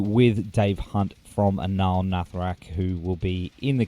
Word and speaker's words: Nathrakh: ANAAL NATHRAKH, is that right? NATHRAKH, I would say.